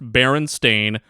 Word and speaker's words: Berenstain: Pronounced Berenstain, spelled Stein at the end.